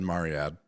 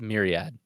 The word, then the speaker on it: myriad: No, you're adding an A at the end of it. Okay, you still said Mariad, but It's Myriad. Myriad. That's how Are we you doing pronounce this that word. right now? This is Yeah, no, this is what we're seriously. I doing? just need to hear you say it right.